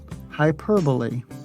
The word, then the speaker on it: hyperbole: hyperventilate or hypertension instead the stress falls on the second syllable per hyperbole also you'll notice that